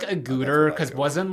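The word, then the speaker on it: Agutter: you know what Jenny how did we say a gooder agatar I just saying that's that's how Griffin done and uh David Naughton pronounced her name on the commentary for American Werewolf in London I would say like a gooter because it wasn't like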